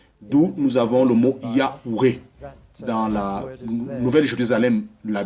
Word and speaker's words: Yahweh: Alors, dans la prononciation anglaise, c'est WJ, d'où nous avons le mot Yahweh.